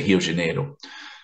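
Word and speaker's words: Rio de Janeiro: and Hill de Janeiro well you know people say hiyo Janeiro I discussed Fred a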